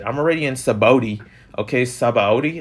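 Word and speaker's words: Sabaody: already in sabote okay saba audi that's how you say it at the art archipelago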